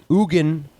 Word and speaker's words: Eugen: So for a while I thought it was just like Eugene or Eugen, which would be like maybe eugenics was named after him, but no, it's the Swiss pronounce it Eugen.